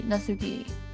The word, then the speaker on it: Natsuki: her name is nki natuki natuki nki natuki natsuki Nuki I'm going to keep say naski even though it's probably not naski I'm assuming